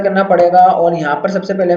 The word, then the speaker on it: pseudo: आके टाइप कर लूंगा पडो अच्छा प इसका साइलेंट है ठीक है ना प